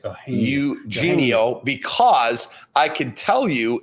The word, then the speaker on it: Eugenio: Yeno. It's Eugenio because I could tell you exactly who told me how it is pronounced.